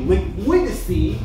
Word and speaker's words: Liquidity: course we have you with the I can't pronounce it correctly. Liquidity.